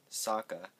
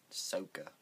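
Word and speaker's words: Sokka: iro EO no and Saka not sooka when I heard SOA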